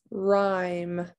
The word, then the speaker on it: rhyme: that w is silent rhyme r i i don't hear the h and listen listen betty